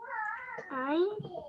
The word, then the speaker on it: ع: And remember, ayn comes from the throat.